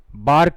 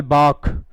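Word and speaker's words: bark: गया any problem बाक इसका कभी भी प्रोनंसिएशन बार्क नहीं करना है। रे साइलेंट रहता है केवल बाक। आखिरी क्वेश्चन है आज की क्लास का। बाक इसको केवल बाक ही पढ़ा जाता है।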